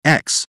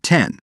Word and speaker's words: X: Qualcomm is announcing the Snapdragon X pronounced X not 10 series which is set